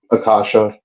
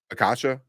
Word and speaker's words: Akasha: Aishka. How you pronounce her name? Akasha. Akasha.